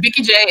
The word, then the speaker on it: Vikeejeah: Vikeejeah is spelled V-I-K-E-E-J-E-A-H.